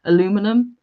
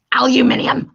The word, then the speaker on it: aluminium: Just like when you call it aluminum. Yeah, it's aluminum. Aluminium.